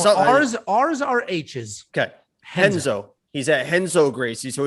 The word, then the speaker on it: Renzo: Is it Chenzo Gracie? Who's Henzo? Renzo? How do you say that? It's Henzo. Where did you get a Chenzo? I mean, you're trying to make a joke, but how'd you get the CH?